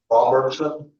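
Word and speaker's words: Roberson: Robertson. Is it Robertson? Yeah. R O B E R S O N Robertson. Robertson, I was saying Robertson. Okay, Mr. Robertson, you tell us your DOC number.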